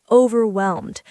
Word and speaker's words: overwhelmed: The word overwhelmed. It's 3 syllables. Listen carefully. Overwhelmed. The stress is on the last part.